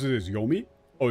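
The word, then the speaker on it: 黄泉: just asking asking like genuinely asking oh she pronounce it as yomi oh it's just yomi yeah it's like why must I be like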